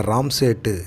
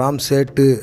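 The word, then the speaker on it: Ram Setu: இன்றைக்கி நம்ம சினிமா நியூஸில் நம்ம அக்ஷய் குமாரோடைய நடிப்பில் வெளில வர இருக்கிற ராம்சேட்டு இந்த படத்தை பற்றி பார்க்கலாம். இது வந்து நம்ம உச்சரிக்கிற மாதிரி வச்சுருக்கோம், ராம்சேட் அப்படின்னு சொல்லுவாங்க, ஆனால் ராம்சேட்டு அப்படிங்கிற மாதிரி வச்சுருக்கிறாங்க. ஸோ கூப்பிட்றது ஈஸியாக இருக்கும் இல்லையா, அதனால் நினைக்கிறேன் நான்.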